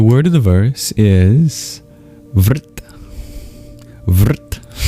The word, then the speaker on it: vṛtt: The word of the verse is ver v. How do you spell that? It's vr t. In Sanskrit r can be used as a vowel. It's called a vocalic R.